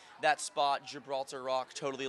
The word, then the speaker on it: Gibraltar: everybody because like Gilbert or something it's it's pronounced Gibraltar okay yeah where did that name come from